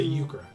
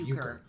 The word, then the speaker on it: Euchre: To Euchre. Yeah. Or Euchre. Sorry, Euchre. We were given the pronunciation.